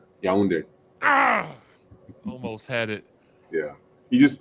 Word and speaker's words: Yaoundé: Yaoundé. Almost had it. Yeah. You know what, those words, you just spell it phonetically, how it sounds. Yaoundé.